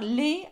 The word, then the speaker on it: les: So that is les and that is le. So I'm not sure why you think they're pronounced the same, but they're very different. So because ES is pronounced A, so we have les, okay, les and le, okay.